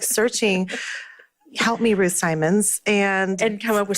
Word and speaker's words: Simons: Most of the time people say Ruth Chou Simmons because we don't learn phonograms anymore in America. Oh, yeah. It's Simons. It's Simons.